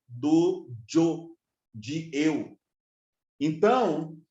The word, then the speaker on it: yo: Yo é Y-O em espanhol, mas a pronúncia dos irmãos que falam espanhol, quando vai falar de Jó, Jó em português, né? J-O, acento agudo no O, mas no espanhol é yo, que tem a mesma sonoridade do yo, de eu.